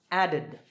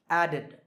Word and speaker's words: added: All right, next, the last sound is d, so the ed ending is pronounced id, added, added.